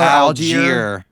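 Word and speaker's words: Allgeier: how do you say his name tyler tyler algiere algier that's how you say so i will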